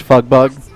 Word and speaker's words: FGB: four Gamers by Gamers fgb pronounced fug bug it's true oh man